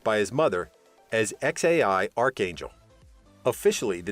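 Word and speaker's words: X Æ A-12: the parents named him xae a12 musk finally pronounced by his mother as xai archangel officially the name was changed to xae because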